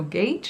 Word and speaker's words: gauge: to match her gauge gage is that how you pronounce that word g-a-u-g-e i want to say gaucho but i think that's more a violent word so gage i'm gonna say forgive me if i'm